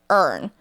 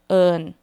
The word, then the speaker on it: Earn: But when you say in my Thai accent, it's earn. Do you hear how that tone is different? I'm gonna repeat to you one more time. This is how people say my name in Thai. Earn. It's softer, right?